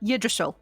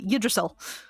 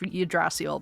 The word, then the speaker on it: Yggdrasil: Yggdrasil. Yggdrasil. It took me a while to learn how to pronounce that, but Yggdrasil.